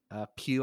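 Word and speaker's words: Pugh: from scarlett johansson too florence pew i think is how you say her last name so and she's fun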